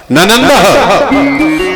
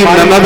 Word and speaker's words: ननंद: कभी कभी पढ़ी लिखी समाज में तुमने देखा होगा वो क्या कहेंगे, हमारी ननद आई है, और गामन में क्या कहेंगे हमारी नंद आई है, लेकिन शुद्ध उच्चारण है ननंद।